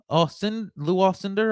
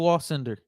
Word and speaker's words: Alcindor: When the commissioner said his name, Lou Alcindor, I believe it is how you say it. Lou Alcindor.